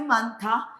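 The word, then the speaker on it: 많다: Es la niet, se omite la hiet, entonces suena manta.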